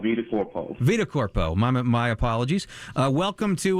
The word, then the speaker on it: VitaCorpo: Am I pronouncing that right? We'll take that, but it's called VitaCorpo.